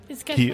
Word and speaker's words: Cay: Key. It's spelled K.